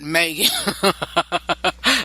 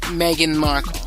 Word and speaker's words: Meghan Markle: Her name is Meghan Markle, not Megan. A lot of folks been saying Meghan, but I believe her name is pronounced Meghan Markle.